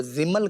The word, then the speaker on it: زمل: ہمیں لغت میں ملا، زمل ملا ہے میم ساکن کے ساتھ، زمل، لیکن اس کا